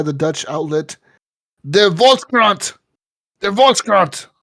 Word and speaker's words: de Volkskrant: De Volkskrant. That's how you say it, okay? That sounds German, but okay.